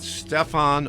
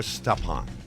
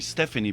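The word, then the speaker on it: Stéphane: is yeah so I've heard it pronounced both ways is it Stefan or stepan well people kids call me step on my toe so step and but people also call me Stephanie because of the e at the end so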